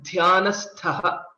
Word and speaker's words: ध्यानस्थः: And similarly, Dhyanastha. Here in this case, the starting letter Dh is a Mahaprana and ending letter Th is also a Mahaprana. So Dhyanastha is the right way to pronounce it.